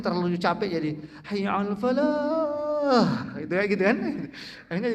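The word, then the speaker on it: فلاح: Kemudian hayya 'alal falah. Nah, itu falah itu lahnya itu juga tipis itu. Falah, hak tipis, bukan kadang-kadang muazin mungkin terlalu capek jadi hayya 'alal falah.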